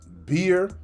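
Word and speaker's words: bier: what's the word uh beer b i e r I believe that's how you pronounce it beer and it means uh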